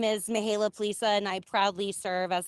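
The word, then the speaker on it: Mihaela Plesa: pronunciation? Yes, you did very well. Thank you. Good morning, everybody. My name is Mihaela Plisa, and I proudly serve as the Vice Chair of the House Democratic Caucus.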